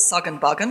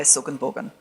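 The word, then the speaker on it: Suggan Buggan: So Jindabain or Jindabain, Suganbugan, which I've wrongly pronounced as Sugganbuggan because that's what it looks like now with the name tags, but it's still in fact pronounced in the Aboriginal way, Suganbugan.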